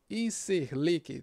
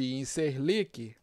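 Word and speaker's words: İncirlik: essa base aqui de incirlik em ser like deixa eu mudar aqui o satélite exata Base Aérea de incirlik costa que a pronúncia é essa vamos Decolar de ir ser like vamos atravessar a fronteira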